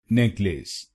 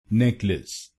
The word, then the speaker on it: necklace: N E C K is said as neck neck and the second syllable i.e. L A C E is said as lis lis.